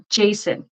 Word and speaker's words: Jason: No, your first one is correct. Jason. Yep. Jason. Yep. So, yeah, Jason, sorry, Jason, I'm a little bit nervous. Jason is correct. It's perfect.